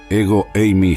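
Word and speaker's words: ἐγώ εἰμι: la frase clave Yo soy el Cristo se pronuncia ego eimi J cristos el término cristos se deriva del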